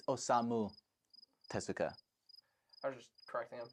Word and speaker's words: Osamu Tezuka: It's Osamu Tezuka.